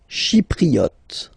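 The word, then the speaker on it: chypriote: Shipriot. She remember this e is pronounced like e.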